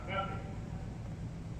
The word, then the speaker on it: ágape: Es lo que llamamos ágape, o bueno, con acento en el alfa, agape.